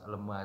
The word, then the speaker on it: lemea: Nanti kalau dia sudah berubah warna sedikit agak putih, nah ada baunya, bau khas lemah itu memang ada khusus baunya itu. Nah, ya sudah itu.